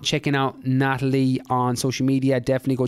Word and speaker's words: Nathalie: So for the first time, Nathalie.